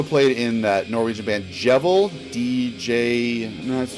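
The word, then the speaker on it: Djevel: something um also played in that Norwegian band jevel DJ that's how you pronounce it DJ e v l um which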